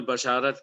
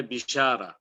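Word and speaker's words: بشارة: ایک نام ہے البشارہ، جو ہم اردو میں بشارت کہتے ہیں، لیکن صحیح تلفظ ہے بشارہ۔ اب آپ کو بشارہ کا سنتے ہوئے عجیب لگے گا، مگر اگر یہ عربی زبان کا لفظ ہے تو اسے وہی بولنا ہوگا جو کہ بولا جاتا ہے، اور بشارہ بھی کہا جاتا ہے، مگر بشارہ اس کا زیادہ صحیح تلفظ۔ اور اس کے علاوہ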